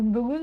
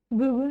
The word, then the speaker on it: бүгін: Ударение на «ы», «ын», на первый слог. «Бүгін». В слоге «гн» буква «ы» практически не произносится. В транскрипции можете записать «бүгін», «бүгін».